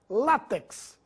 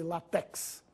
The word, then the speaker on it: látex: habitantes da Península Ibérica látex essa palavra deve ser pronunciada com tonicidade na penúltima sía não existe latex maquinaria e maquinário as